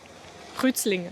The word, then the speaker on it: Kreuzlingen: Wissen Sie auch, wie es auf Schweizerdeutsch ausgesprochen wird? Nee. Rützlinge, so ungefähr.